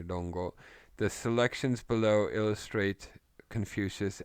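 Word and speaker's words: Rongo: In Chinese, it's the Lunyu. Japanese say Longo. Same kanji, they pronounce it differently, Longo.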